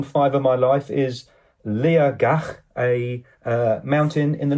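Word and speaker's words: Liathach: I would call it liac but the t is pronounced as a g your place on five of my life is Lea gak a uh mountain in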